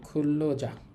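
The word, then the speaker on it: 근로자: এ নিউন এবং রিউল মিলে লয়ল হবে। উচ্চারণ হবে খুল্লজা।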